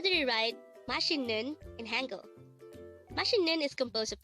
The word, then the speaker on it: 맛있는: delicious again means delicious how do you write mashinun in Hangul is composed of three syllables for the first syllable mat we need